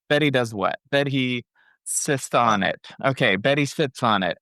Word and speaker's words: SiSonnet: So it's spelled SiSonnet. Yeah. So like a sonnet. So anytime I introduce myself as Betty, I say, my name's Betty sits on it.